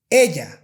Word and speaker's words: ella: Okay, the English Y is very similar to the Spanish Y, but it's not the same, and I'm going to give you some examples.